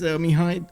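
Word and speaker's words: Mihai: Uh, yeah, my name is Mihi. Um, that's how it is. It's much easier to pronounce in English, Michael, for everybody else.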